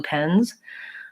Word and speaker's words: pens: Pens are in my hand there are blue pens especially when I end with a voiced plural